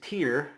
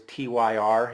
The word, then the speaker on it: Tyr: the next one is tier from 1990 um as I've been told it rhymes with beer okay CU I had no clue how to say it I always used to think it was tyr he just you know